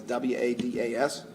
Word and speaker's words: Wadas: We have with us ADA Wadas, that's, Wadas is Wadas, who is the chief of the DAO's Family Violence Sexual Assault Unit.